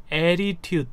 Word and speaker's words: attitude: 표기를 하면 그렇게 되는데 여기는 이제 본토 발음처럼 attitude 이렇게 네 t를 네 류마시켜가지고 attitude 네. 이렇게 하시면 좋습니다.